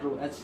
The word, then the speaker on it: rho: इसको हम लोग प्रोनाउंस करते हैं रो, RHO, ठीक है।